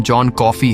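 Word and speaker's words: John Coffey: जिस पर जॉन ने कहा कि मेरा नाम जॉन कॉफी है पीने वाली कॉफी। लेकिन स्पेलिंग थोड़ी अलग है।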